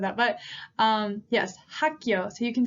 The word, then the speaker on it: 학교: So if we said hak, then it would be 2, right? Hak. So hak, and then we have 기역 plus 요, right? 교. 학교, 학교.